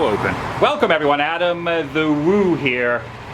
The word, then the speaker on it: Woo: Welcome everyone, Adam the Woo here. It rhymes with boo, which segues into the scary season that is upon us.